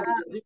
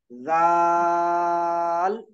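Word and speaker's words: ذال: ज़ाल जबान की नोक दांतों के बाहर निकालिए।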